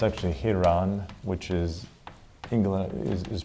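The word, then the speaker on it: ἱερόν: All right, the first one is, it's actually Hieron, which is English, is pronounced like that, Hieron.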